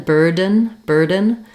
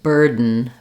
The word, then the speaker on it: burden: But Americans very frequently won't actually release this D. Rather than burden, I would tend to say burden. And in that case, what I'm doing is making an unreleased D sound.